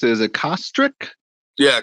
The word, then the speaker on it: Kostrick: How do you pronounce it? Is it Kostrick? Yeah, Kostrick.